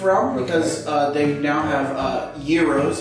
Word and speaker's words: gyros: I believe Arby's has stepped out of the roast beef realm because they now have gyros, if you're going to say it correctly, or gyros, as everybody says.